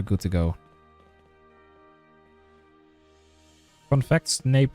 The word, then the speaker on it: Snape: Fun fact, Snape rhymes with rape, I'm just saying.